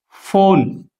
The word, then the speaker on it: phone: But when it is followed by H, phone, means here when P